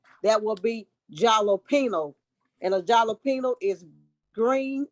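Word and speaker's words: jalapeño: dry what am I I rhyme with the word casino that will be jalopino and a jalapeno is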